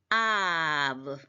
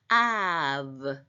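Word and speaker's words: אָב: 돼서 어 보의 부처럼 그렇게 발음이 나서 브 발음이다 이렇게 돼서 아 그다음에 그 예로서 어떤게 나왔습니까 밑에 나와 있죠 아브 아브 할 때 브가 다기 시가 없으니까 아버지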